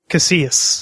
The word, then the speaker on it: Casillas: last name out loud Casas Casas okay Casas just think uh you say tortilla mhm so Casas you don't pronounce the L's gotcha okay well I'm